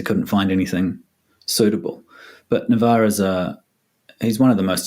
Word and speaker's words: Navexa: Is that the correct pronunciation? I hope so, yeah. Yeah, that is. Navexa.